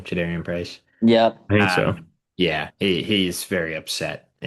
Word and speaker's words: Jadarian Price: That's how you say his name, Jadarian Price.